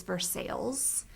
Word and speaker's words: Versailles: And we put together this list of words that we thought, they need to make sure that they understand in Kentucky it's Versailles and not Versailles, and it's Athens and not Athens, and all these different variations.